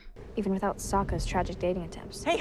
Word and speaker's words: Sokka: My name's Sokka. Rhymes with awful.